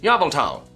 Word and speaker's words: Yveltal: Number two, you shall pronounce Yveltal, Yveltal.